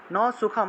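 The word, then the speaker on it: সুখং: সুখম ন পরাম গতিম ন সুখম অনুস্বার থাকলে ম উচ্চারণ ন সুখম ন পরাম গতিম পরাম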